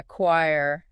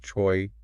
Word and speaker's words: choir: If you try to sound it out, you end up with something like choy, which is so far off from how you actually say it.